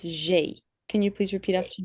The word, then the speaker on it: j'ai: Now with this, just to recast a little bit, I remember Kenzie just asked how to say the first bit. It's j'ai.